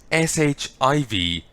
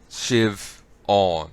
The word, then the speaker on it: Siobhan: And it's pronounced like SHIVAUN. Or maybe just UN. No, AUN. Shiv on, as in awning. You know? Siobhan.